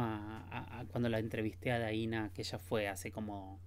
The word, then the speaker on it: Daina: mí Mi nombre es daina chaviano se escribe d de Diana a i n a acento en la i chaviano c h a